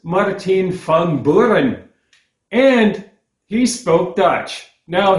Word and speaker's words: Martin Van Buren: And it turns out we're not even pronouncing the man's name correctly. As his political enemies sometimes referred to him to mock him a little bit, ramping up the accent, the man was Maarten Van Buren.